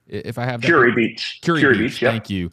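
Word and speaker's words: Kure Beach: Oh, this is if I'm pronouncing it correctly, Wes, I think it's Cure Beach. If I have that. Curie Beach.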